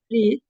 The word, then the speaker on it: read: look at this read read we say read but it's still spelled the same way and red is the same way